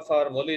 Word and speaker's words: formulae: Next आपको different types of फार्मूले जो हैं ऑर्गेनिक कंपाउंड्स के वो बताए जा रहे हैं। ये वर्ड आप देख रहे हैं FORMULAE, इसको प्रोनाउंसिएट करते हैं फार्मूली।